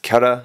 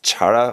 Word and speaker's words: Chara: This is pronounced kara not charara or shara or I don't know however else you might want to pronounce it. It's short for character.